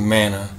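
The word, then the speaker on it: מן: these passages the yahudim are referring to the Mana that was given to Israel when they came out of Egypt yahusha is telling them that he is the true Mana the true bread of Elohim to understand this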